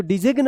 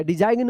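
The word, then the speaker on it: design: इसको डिजिग्न मत पढ़िएगा या डिजाइन मत पढ़िएगा।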